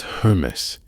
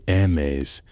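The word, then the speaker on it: Hermès: That's HERMÉS. You might say it like HERMÉS. Some people say HERMÉS. The French say HERMÉS. However you say it in your head is perfectly fine for tonight.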